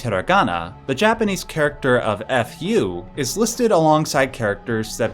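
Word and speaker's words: ふ: should be noted that when pronounced the sound that is made is not F rather it is a sound that is somewhere between a f and a h like this this is partially because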